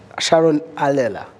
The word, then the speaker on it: Sharon Allela: Sharon Allela, is that the right pronunciation?